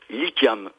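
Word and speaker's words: Likhiam: Et cet émissaire s'appelle Lykiam.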